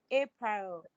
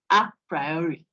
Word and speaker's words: a priori: He says the a priori should be pronounced a priori.